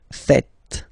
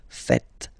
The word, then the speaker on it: faites: It's vous faites. Vous faites. Okay? So remember, final S here is not pronounced, and then this is not pronounced either. So faites, faites.